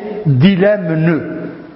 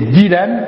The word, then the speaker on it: dilemme: avons maintenant le dilemme regardez bien dilemme s'écrit avec de M une faute courante c'est d'écrire de prononcer dilemme non c'est dilemme avec de le dilemme c'estferme la